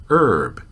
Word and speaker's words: herb: this word is interesting traditionally the H was not pronounced in the United States about ninety percent of Americans still do not pronounce the H we say Erb the same is true